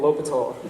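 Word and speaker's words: L'Hôpital: Now, I just made you imagine a G that says yum, an ant that won, and a low petal. You just learned how to pronounce Geomentuan L'Hopital, a guy who you learned about in calculus.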